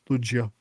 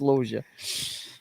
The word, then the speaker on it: Loggia: If I hadn't heard him pronounce it correctly myself, I would have pronounced it the same way you're doing it. But yeah, it's Logia.